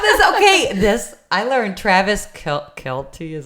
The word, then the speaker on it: Kelce: Okay, I learned Travis Kelce is how you say it.